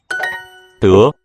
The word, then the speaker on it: 德: So whenever in Mandarin you have an unaspirated stop and a second tone, that reflects an old closed syllable. It was tuk in older stages of Chinese with a final K.